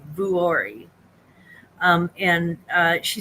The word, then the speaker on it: Vuori: sells and she said it's vuori I think is how it's pronounced V is in Victor uo r i vuori um and uh she